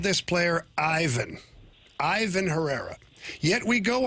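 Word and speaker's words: Iván: and Matthew Liberator have all called this player Ivan. Ivan Herrera. Yet, we go on the internet to the official pronunciation and uh Herrera himself says Ivonne Herrera.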